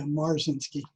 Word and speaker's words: Marzinsky: Is that how you pronounce it? Yeah, Marzinsky.